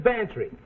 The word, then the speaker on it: Bantry: SL m HCL EOD live in bantry come on spell it fancy sounds like pantry aya november mac will